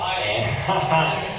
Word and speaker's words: Ayn: Is it Ann or Ayn? Yeah, Ann.